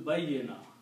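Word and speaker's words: بيّن: So this will be baina, but this will be bayyina. Bayyina. Ya has to be pronounced twice.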